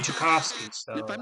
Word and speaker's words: Tchaikovsky: okay you got it good to pop the pronunciation for this famous Russian composer is Tchaikovsky yeah I was gonna be saying Tchaikovsky so if I'm not mistaken I think I